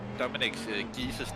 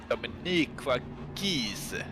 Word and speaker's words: Dominic Gies: I've actually heard that you have Dominic Gies' name is actually pronounced Dominique Gies. You have to say it like Italian, even though he's very German.